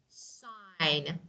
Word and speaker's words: sign: Particularly when it appears with N at the end of a word. Like sign, design, foreign, for example, foreign language, we say foreign. Again, G and N, so G is not pronounced. We say G is silent, okay?